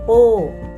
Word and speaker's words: 不: พิ อิน บท ที่ 14 การ ออก เสียง ปู้ ปู้ จะ ออก เสียง ได้ 3 เสียง ด้วย